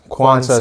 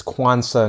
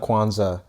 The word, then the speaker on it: Quansah: Quansah. So it's similar to the holiday, but not with a Z. It's Quansah, not Quansah.